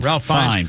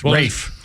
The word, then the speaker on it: Ralph: How do you pronounce Ralph? Ralph. Rafe. Rafe fines.